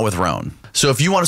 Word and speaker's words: Rhone: that can be worn individually or mixed and matched with other Roan products.